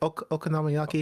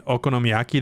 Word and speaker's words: okonomiyaki: How you pronounce it? Okonomiyaki.